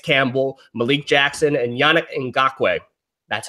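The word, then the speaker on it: Ngakoue: Dante Fowler Kleist Campbell Malik Jackson and Yannick and gawk wag that's how you pronounce it you have four guys that are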